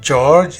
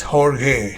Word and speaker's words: Jorge: r g e but it's not George it's horge yeah it's Portuguese Spanish